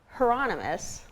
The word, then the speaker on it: Hieronymus: So you have this really interesting collection called Hieronymus.